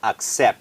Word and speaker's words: accept: มัน จะ บอก ว่า ต้อง ออก เสียง ว่า accept เป็น ไม่ม หัน อากาศ accept นะ ครับ แล้ว ที่ สำคัญ ต้อง ควบ กล้ำ ตอน ท้าย PT accept นะ ครับ เช่น I accept